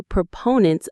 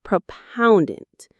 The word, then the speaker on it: proponent: The stress is on the second syllable. Proponent. Notice it's proponent, not propoundant.